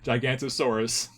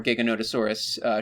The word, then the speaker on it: Giganotosaurus: Yeah, and this thing has part Gigantosaurus. You can't... That's what makes it so big. Oh yeah, well, the skull is a lot more Giganotosaurus shaped. You know what? That's a much better pronunciation.